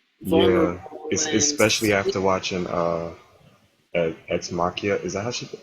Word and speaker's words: Ex Machina: Yeah, especially after watching Ex Machina. Is that how you pronounce it? Yeah, Ex Machina.